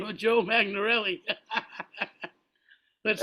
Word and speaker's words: Magnarelli: Sorry, name of Joe Magnarelli.